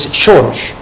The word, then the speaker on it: Soros: En idioma húngaro, del cual es nativo el financista, la S se pronuncia sh, entonces es Soros.